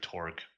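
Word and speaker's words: Torgue: You said too many syllables. Apologize. It has amazing banter. And Mr. It's Mr. Tor.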